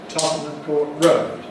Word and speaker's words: Tottenham Court Road: principle, that Tottenham Court, when it's followed by road, then becomes Tottenham Court Road, Tottenham Court Road, Tottenham Court Road, Tottenham Court Road. It tends to be difficult for visitors to London for the first time to say. So just practice it, Tottenham Court Road, and say it fast, the way that Londoners do.